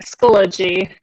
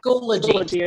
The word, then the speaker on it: Schoology: You had it right, Schoology. Yeah, Schoology is correct. Schoology, thank you.